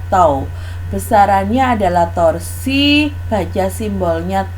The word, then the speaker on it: tau: pita-pita cuman satu kaki bacanya tahu jadi simbol ini dibaca tahu besarannya adalah torsi Raja